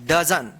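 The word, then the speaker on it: dozen: डजन।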